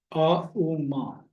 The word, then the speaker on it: ओम: अ उ मा, ऐसे उच्चारण करेंगे। ओम नहीं बोलते हैं, उ मा।